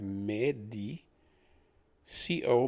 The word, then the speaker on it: medico: we're using english pronunciation the e can be pronounced similar to me as in how good was that movie it was okay d as in the letter d so d i becomes d as in the letter d so we have medi co becomes ko if you remember they